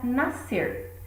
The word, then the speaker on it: nascer: Outra palavra é a palavra nascer. Reparem que ao pronunciar, parece que o único som emitido é o C. Não é pronunciado o S.